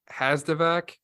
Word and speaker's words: Hazdovac: you said it right I have a uh actually a little trick for remembering my last name my uncle used to say it so think about a vacuum cleaner the VAC okay you're looking for